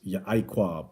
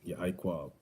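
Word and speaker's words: יעקב: And what did anybody know what Jacob means in the ancient Hebrew? It's Ya'iquab. That's how you say it. Ya'iquab.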